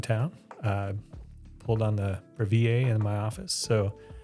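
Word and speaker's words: Breville: So, um I think maybe it's brevel. I think people call it brevel, but it's spelled like it's French. I feel like I should say bravier to show that I have some French culture.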